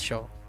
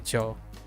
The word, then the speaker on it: yo: I say Joe. But this person said my pronunciation was good, right? This person said my pronunciation is good, but pronounce yo more like a show. I'm like, okay. But I just want to be clear that pronunciations vary, but for me it's more like a joe versus a show, right?